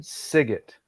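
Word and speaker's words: Sygit: female vocalist was Jen siget ah from Michigan yeah g-i-t rhymes with dig it um I highly recommend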